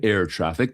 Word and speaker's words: ErrTraffic: The researchers describe air traffic, that is spelled ERRTRAFFIC, as requiring prior access